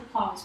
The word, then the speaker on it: Clouz: Mas fala a pronúncia do close pra ver se você lembra.